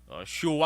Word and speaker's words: Choix: Shua ang pronunciation sa nagal isang CHOIX.